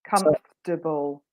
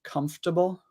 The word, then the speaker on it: comfortable: is that's my yeah so you say it like this comfortable comfortable yeah so there's no R for you or there's a British R which is a sww sound comfortable well no no R goodbye R we don't like R